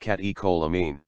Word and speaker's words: catecholamine: catecholamine pronounced catecholamine an amine derived from the amino acid tyrosine